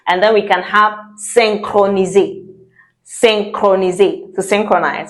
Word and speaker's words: synchroniser: And then we can have synchroniser.